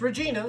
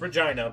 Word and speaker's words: Regina: It's not pronounced Regina. It's pronounced Regina because reasons.